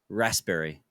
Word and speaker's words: raspberry: do you say yeah raspberry there you go I got into this argument with my roommates and my girlfriend about this I'm like the p is not silent it's not silent raspberry